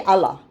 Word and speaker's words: Allah: a stickler for pronunciation you don't say Allah no it is not Allah it is Allah Allah not Allah no some when you hear